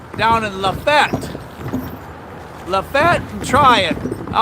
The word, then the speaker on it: Tryon: you later Tryon huh all this time I thought it was TRON so trying trying Georgia I got to